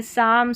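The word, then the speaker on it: psalm: Number 51 पर है PS, इसको स पढ़ेंगे। PS साथ में रहता है बड़ी बड़ी स्पेलिंग्स में, और स इसलिए पढ़ा है क्योंकि P साइलेंट है। यहाँ पर देखिए साइकोलॉजी, यहाँ पर है साम, सूडो और साइकिक, ये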